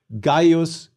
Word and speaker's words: Gaius: Gaius Julius Caesar. Note that the diphthongs AI and AE are both pronounced I.